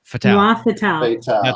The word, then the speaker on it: Noir Fatale: We're going to talk about Kacey's brand new anthology that she helped put together, Noir Fatale. Noir Fatale. That's exactly how I pronounce it.